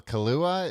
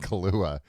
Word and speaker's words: Kaluuya: Daniel Kaluuya? Is that how you say his name? It's not Kaluuya. Kaluuya.